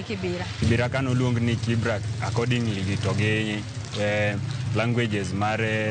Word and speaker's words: Kibra: But mane okuche obiro to gi jok mamoko to pronunciation no change from Kibra to Kibera.